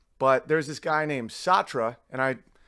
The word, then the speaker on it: Sartre: there's this guy named satra and I people pronounced at all different ways I'm pronouncing it the English way who's a postmodernist what